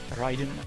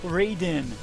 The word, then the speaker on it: Raiden: and Subzero as well as that Thunder God Ryden not Raiden not Raiden ryen it's like it's like when